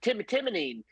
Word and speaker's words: Timonen: And so anyways, I'm like, no, it's not Timonen. It's Timonen, you know, just like stupid names every time.